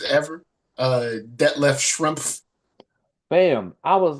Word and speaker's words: Schrempf: And I was like, oh, I've been saying it wrong. Like, let alone that, you legit enunciate every letter in his last name. Schrempf.